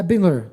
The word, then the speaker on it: Bandler: Ah, tá, porque eu pronunciei errado aqui. Não, acho que não. É Bandler.